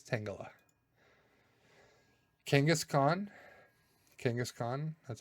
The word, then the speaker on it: Tangela: Tangela. Tangela is not right. It's Tangela.